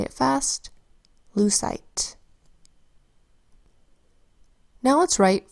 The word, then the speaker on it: lucite: It is spelled with an L that says ul, and then an EU that says oo, a C that says S, I that makes a long I sound, and which also is softening that C to S, because C before E, I, and Y softens to S.